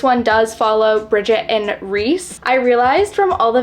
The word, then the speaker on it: Rhys: I included this in I was pronouncing his name wrong the whole time so I apologize I do think it is Rhys instead of Rise so sorry but yes